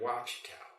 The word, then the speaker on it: Ouachita: More like Lake Ouachita.